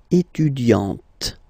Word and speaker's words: étudiante: Okay, but then for the feminine form, elle est étudiante. Okay, T, T, T. Okay, you don't really insist on the E, but you insist quite much on the T.